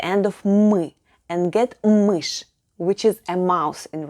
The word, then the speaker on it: мышь: of мы and get мышь, which is a mouse in Russian. We added 1 sound but 2 letters. Ша, which makes the sound sh, and мягкий знак, soft sign, which is silent.